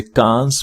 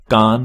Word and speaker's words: Cannes: कई लोग गलती से इसे कांस बोलते हैं, लेकिन असल में इसका सही प्रोनाउंसिएशन कान फिल्म फेस्टिवल है।